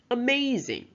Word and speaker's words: amazing: For example, amazing. So maze, the second syllable, is underlined.